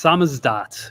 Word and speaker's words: SZDT: Uh, it's pronounced samazdat, which is kind of an inside joke.